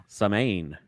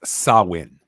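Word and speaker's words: Samhain: at gentlemen oh wow samane yeah it's actually pronounced sawin I actually had to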